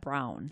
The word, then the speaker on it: Braun: brewer last name is spelled BR a un okayed on the Milwaukee area we pronounce it brawn up in Sheboygan they pronounce that brown yeah spelled exactly the